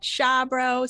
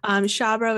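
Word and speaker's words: Xiabro: You can find me on Twitter at Shabro. Super stoked to be here. Super stoked to, oh my gosh, it's very exciting. Shabro is spelled X-I-A-B-R-O.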